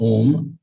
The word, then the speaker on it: Om: The mystic symbol Om, pronounced Om, at the center is Atman.